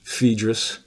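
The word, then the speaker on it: Phaedo: look at the dialogues the fadis which some people pronounce fedis and the Republic and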